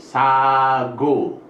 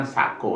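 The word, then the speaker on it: 사고: totalnya ini a&u Hai karena diantara vokal maka bunyinya G ini bacanya sagu Hai bukan saku tetapi sago yang tadi kan setengah guys natkat wudhu weeks ago Go sago bukan Sako ya Hai Oke kita contoh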